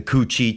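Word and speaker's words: Củ Chi: they would really they had these um the Coochie tunnels. And if you're not familiar, you can look that up. And that's spelled C U C H I think separate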